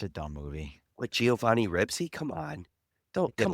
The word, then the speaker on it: Ribisi: Hey, Yeah, Is he it- is I He's said Ribisi, isn't he? Not alright, my Ribsy.